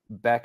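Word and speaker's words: Bäck: Beck. The umlaut makes it a kind of a Beck, Oscar Beck. Yes. It's okay. Instead of back.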